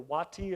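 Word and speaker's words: Watie: The last Confederate general to surrender on is Stan Waiti or Watti as some pronounce it.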